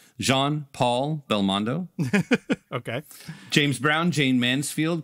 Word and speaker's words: Jean-Paul Belmondo: Robinson, Philip Roth, Renee Taylor, Jean-Paul Belmondo, Jean-Paul, let me put some respect on this man's name and pronounce it correctly, Jean-Paul Belmondo.